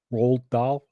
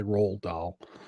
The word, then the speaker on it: Roald Dahl: say that guy's name Roald Dahl no it looks like Ronald but it's not it's a Roald Dahl the guy wrote Willy